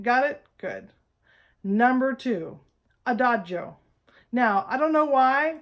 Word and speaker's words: adagio: like tempo one in your score and it's pronounced tempo Primo all right got it good number two a Dodge oh now I don't know why but for some